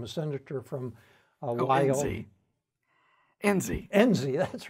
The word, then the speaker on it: Enzi: senators, Nunn, and senators from other countries, Mike Espy, maybe mispronounced his name, a senator from Wyoming. Enzi, that's right, Enzi, Senator Enzi, he's still a serving senator.